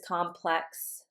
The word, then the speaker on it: complex: the verb is going to have the accent on the second syllable and the noun will have the accent on the first the first syllable. The adjective is complex and the adverb is complexely.